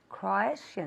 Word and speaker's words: Croatian: Croatian. Crow, como si fuera C-R-O-U y después Asian.